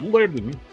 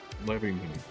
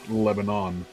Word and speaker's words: Lebanon: They pronounce it Lebanon. It's Lebanon, not Lebanon.